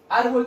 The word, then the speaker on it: árbol: Árbol también sería una palabra grave. Yo separo en sílabas. Sería árbol. Cargo la voz en la sílaba ar.